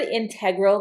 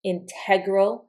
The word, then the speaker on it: integral: The word integral can be pronounced with the accent here, integral, or it can be pronounced here, integral, intrinsic.